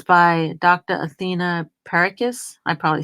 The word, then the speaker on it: Perrakis: Athena Perikis. I probably spelled her I know I mispronounced that name. Last name is Perrakis.